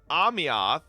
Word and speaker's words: Ameth: The name Ameth from the game Wuthering Waves is pronounced roughly as Amyath, with the AEM sounding like Ami, similar to Amy, and the Eoth being a soft oth sound, making it flow like Amyath, or Emioth, leaning towards Amyath for clarity.